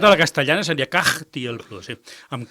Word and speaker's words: Kaj Tiel Plu: En pro del grup, si teniu Spotify, teclegeu Katie el Plu, si s'escriu amb K, A, J, T i el tal com sona i Plu tal com sona. Cagti el Plu, com dic jo, que m'agrada dir-ho per sonar-vos.